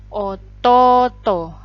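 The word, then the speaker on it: おとうと: lanjut ya Hai jadi untuk pengucapan ini ya oto-oto cara bacanya ototo jadi ini kayak seolah-olah double Oh ya ini juga sama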